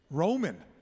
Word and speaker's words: Rouman: pronounce it rman correct Roman oh like the Empire wow that was that